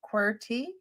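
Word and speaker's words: QWERTY: is based yeah it there's the pronunciation query quy design put it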